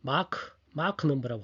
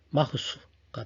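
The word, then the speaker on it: Mach: 미국에서는 마크 넘버라고 합니다. 발음을 마크 넘버. 원래 독일 저쪽이겠죠. 마흐수가 되겠죠. 잘 알고 있죠.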